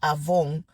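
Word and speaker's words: עוון: O se pronuncia Avon, como si fuera Avon, así se escribe Avon.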